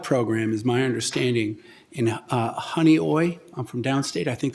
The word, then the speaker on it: Honeoye: there's a pilot program, is my understanding, in Honeoye. I'm from downstate. I think that's how you pronounce it. You one said of the it right. Finger You Lakes. did great. Honeoye Lake, where aluminum phosphate's being used, and that neutralizes the phosphate.